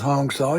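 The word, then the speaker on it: Hong-Sau: The explanation if you look up Hongsaw H O N G S A U but it's pronounced Hong Saw. Hong like Hong Kong and Saw like Hansaw.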